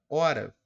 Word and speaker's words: hora: do mesmo jeito que esse H aqui não produz o som e aí eu consigo